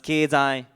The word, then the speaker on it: 経済: It's pronounced 経済 in Japanese, Gyeongche in Korean, and it also has a different pronunciation in Vietnamese.